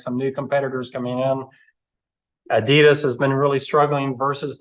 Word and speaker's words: Adidas: firms like Nike and I pronounce it Adidas but I it sounds like they're supposed to be Addidas what do yall how do y'all say it y'all say Adidas right it's not added us but anyway but there's